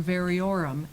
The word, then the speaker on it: variorum: Variorum, an addition or text with notes by different persons. My edition of Shakespeare's collected works was a hand-me-down variorum, as it had my older brother's notes in the margins.